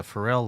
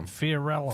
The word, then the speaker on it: Fiorello: uncle back and that's the pharrell laguardia is that airport's named after fiorello fiorello i didn't even say his name pharrell he was in